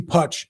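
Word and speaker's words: Putsch: Puch like Hutch. Casey Putch is running for governor.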